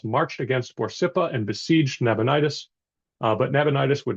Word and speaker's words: Nabonidus: to NAB nabonidus um usually pronounced and spelled nabonidus one of the Babylonians